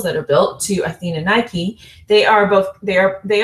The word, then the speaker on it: Nike: is a temple of athena nike or miki more perfectly pronounced which means at the